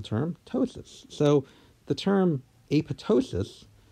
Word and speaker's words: apoptosis: ptosis so the term a pitocin is correctly pronounced when the second P is silent yes of course people understand you if you said apoptosis but that is not